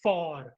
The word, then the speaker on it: fort: Then after that the next word is फॉर, FORT। इट्स नॉट फोर्ट, रेड फोर्ट वाला फोर्ट नहीं है ये, ठीक है।